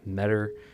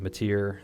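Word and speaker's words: Metyr: Yes, it's Ymir pronounced it as Metter. I've been calling it Matir this whole time.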